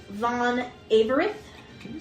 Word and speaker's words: Averith: The king is known by Vreen von Averith. Can you spell that?